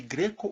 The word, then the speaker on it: Greco: Eu nunca sei se eu te chamo de Greco ou de. Eu acho que é melhor chamar de Greco. A pronúncia mais típica do meu sobrenome é Greco. É agudo. É agudo e não fechado.